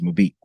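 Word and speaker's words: Mbappé: Uh Mabep, how do you say it? Mab or mib mabib. It was Mabek. Killian Mabek. Yeah.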